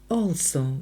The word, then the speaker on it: also: begins with the Words also буква a перед L читається як о колись давнимдавно Once upon